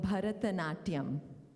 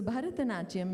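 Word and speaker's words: Bharatanatyam: classical dance form called Bharata Natyam yes that's right it's a lot of syllables right not young it's five syllables in a word Wow let me talk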